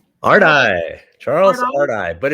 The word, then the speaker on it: Ardai: cry hard case crimes novels excuse me charles adia ardy charles ardy but it's a weird name so